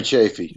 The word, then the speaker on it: Chaffee: It says, hi, Mike, did you have any lessons with Gary Schaff at Berkeley in the 80s? Former, if I'm saying Chaffee student? Gary Chaffee. Okay, there you go.